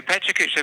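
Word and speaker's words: PechaKucha: I saw in your bio that you're also involved with Pecha Kucha. Is that how you pronounce it? What is that? Okay, Pecha Kucha.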